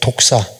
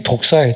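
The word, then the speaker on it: δόξα: 이 영광이란 말은 단어를 제가 원어에서 찾아보니까 단어가 어떤 단어를 쓰냐면 독사라는 단어를 써요. 독사. 뱀 독사가 아니고요. 발음이 독사예요. 독사.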